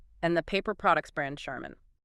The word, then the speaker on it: Charmin: Whirlpool and the paper products brand Charmin. Two things here. First, the initial ch is not the t sound like in chair. It's pronounced like sh.